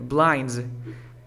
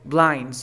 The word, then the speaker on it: blinds: Cuando tengo un sonido que produce vibración antes de la S, ¿esta S se pronuncia como S o como Z? Como vibración. Como Z. Como Z. Entonces debería ser blinds.